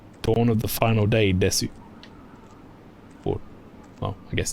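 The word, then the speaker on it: です: That's one of the many silent U's in Japan.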